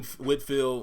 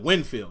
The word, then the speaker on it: Winfield: like you know when Whitfield or the wing field always forget which way you pronounce is it Winfield that's it guys like him is